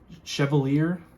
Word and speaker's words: Chevalier: So like I said, this is coming from Justin over at White Mountain Knives, and this is the new Civivi Chevalier, I believe is how you pronounce it.